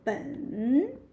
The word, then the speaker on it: 本: So 本. Yeah, this is being third tone as well.